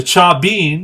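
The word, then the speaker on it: Chavín: a pretty interesting game the cha bean and that's v pronounced with the letter b established powerful and religious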